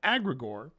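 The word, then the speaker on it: egregore: And um the idea of an of an of an agregor or as you may have heard some people pronounce it with an a an aggregor.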